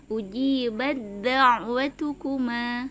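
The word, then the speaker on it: أُجِيبَت دَّعْوَتُكُمَا: Ujibat, bat kalau biasa kalau tidak bertemu dengan huruf dal, huruf ta kan ada hamznya, bat, seperti itu. Tapi karena bertemu dengan huruf dal yang sama-sama makhrajnya dengan huruf ta, maka langsung diidghamkan ke huruf dalnya. Jadi cara membacanya ujibat da'watukuma, seperti itu.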